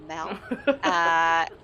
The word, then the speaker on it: Mel: They're on the red carpet of the Mel. Someone's written on the socials to say it should rhyme with Pal, so the Mel.